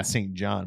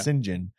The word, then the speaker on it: St John: is actually the name it's spelled St and then space John I was saying yeah St John but it's Sinjin um uh I